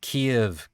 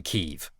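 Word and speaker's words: Kyiv: in ukraine what's with everybody two years ago pronouncing kiev kiev and now it's obvious to everybody that it's always been keiv check out my next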